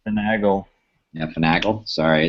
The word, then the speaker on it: Finagle: It's Finagle. Yeah, Finagle. Sorry, it's Finagle. I figured that I was mispronouncing it, but the thing that I always